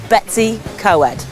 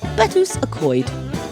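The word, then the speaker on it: Betws-y-Coed: a lass at a mix sex Secondary School Betsy coed sorry another cker is bets WOD which just sounds like someone disputing what's for their tea it's pronounced betus aoid betus from English bedus a pray housee and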